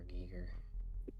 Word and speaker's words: Giger: Giger.